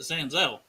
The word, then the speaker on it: Senzel: Sanzel for Santori. Stop it. That is how it's pronounced. They pronounce it Sanzel You're on the wrong.